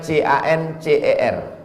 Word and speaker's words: cancer: darah menggumpal-menggumpal menjadi Cancer tulisannya c a n c e r orang barat membacanya Cancer orang kita susah menyebut kanser kenapa nih kanker maka